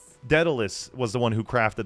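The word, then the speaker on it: Daedalus: I don't know why Datalus can't Icarus.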